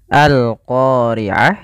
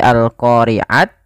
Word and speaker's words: القارعة: Maka bukan lagi al-qari'at tapi al-qari'ah.